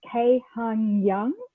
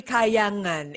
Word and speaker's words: Kahyangan: So Ingrid is the founder and relationship coach, and she's also the Chief Relaxation Officer of KAHYANGAN. Have I pronounced that correctly? No, it's actually KAHYANGAN.